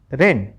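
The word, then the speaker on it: reign: आर इ आई जी एन रेन क्योंकि जी silent होने से बचा क्या? एन ही तो बचा लास्ट में। ठीक है? आर इ आई से बना रे और एन लास्ट में था तो बना उच्चारण रेन।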